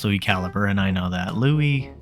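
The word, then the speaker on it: LuiCalibre: second to highest in b the squeaker himself Louis calibri now it's pronounced Louis caliber and I know that Louis he's a funny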